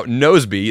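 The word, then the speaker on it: Nozbe: Now, Nosby, that's spelled N-O-Z-B-E, is a task manager that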